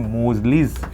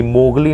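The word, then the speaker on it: Moseley: मोजली एक्सपेरिमेंट ठीक है मोजली एम ओ एस ई एल ई वाई मोजली एक्सपेरिमेंट ठीक है मोजली मोगली नहीं बोलना रे मोजली एक्सपेरिमेंट अब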